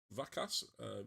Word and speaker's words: Vakas: Uh, how do you pronounce his name? Vacass. Vakas is Va Cass.